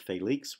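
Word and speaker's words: Félix: a de Vega okay in Spanish the first syllable of Felix would be accented and sometimes we retain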